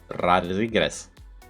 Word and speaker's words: Rodriguez: Rodriguez. Rodriguez. Rodri is like Madrid.